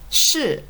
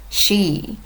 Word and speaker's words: 是: Sh. A common mistake is pronouncing it like the English word she. But that's not right.